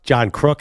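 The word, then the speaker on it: John Kruk: really well no I prefer the old English pronunciation of his last name is yeah you usually nail baseball but John crook it's John crook don't dis tournament which bothers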